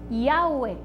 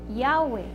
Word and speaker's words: Yahweh: Y tenemos que se pronuncia Yahweh. Yahweh.